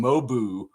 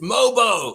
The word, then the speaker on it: Mogbo: At the beginning of the game, the guy was naming him Mobu. He called him Mobu. Jonathan Mobu in the game. And somebody in the chat, I forget who, they were really pissed that they kept getting his name wrong. I think it was some guy named Curtis. And he was like, it's Mobo.